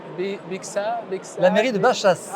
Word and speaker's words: Baixas: Bea la mairie de Bachas. Alors si vous allez à Bexas, demandez à Bachas et si vous allez à Bachas demandez Bexas et vous serez à Bachas et à Bexas.